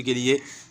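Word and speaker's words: قالوا: और लाम वाव पेश लू, ये लाम के साथ वाव तो पढ़ा जाएगा, लेकिन ये अलिफ ये भी इस तरह, ये तूबू के साथ जो अलिफ है इस तरह ये भी साइलेंट रहेगा, इसका कोई काम नहीं, न हिज्जे में पढ़ा जाएगा न रवा में पढ़ा जाएगा, सिर्फ खूबसूरती के लिए लाया गया है।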